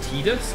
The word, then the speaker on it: Tiddles: me, by the way, the correct pronunciation is Tiddles. I'm going to be like, great, cool. I'm going to continue calling him Titus.